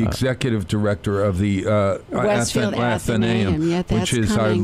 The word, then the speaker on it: Athenaeum: Well, we go by Athenaeum. There's some people who pronounce it differently, but Athenaeum is the standard.